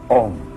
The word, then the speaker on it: Om: Om pronounced starts in the back of the mouth, then fills the mouth cavity, U, and closes at the lips, When properly pronounced, you have made all the noises.